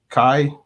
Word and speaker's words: chi: end analys it key Kai rhymes with pi you're right simal could